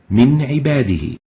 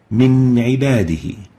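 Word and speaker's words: من عباده: Next example, Min Ibadihi. Nun Sakinah followed by Ain with a Kasra, pronounced clearly Min Ibadihi.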